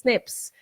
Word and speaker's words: SNP: Whereas sometimes these SNPs (pronounced snips), these nucleotide variations happen and they just produce a different result.